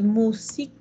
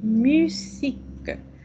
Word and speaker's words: musique: Notez les I de Rémi et la mu de U, no decimos musique, c'est musique, avec les U. Acuérdense que es una U con un tono de I.